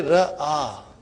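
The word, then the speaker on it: رأى: Now, I say ra'a. I say ah. Okay? I'm making the pronunciation of alif here.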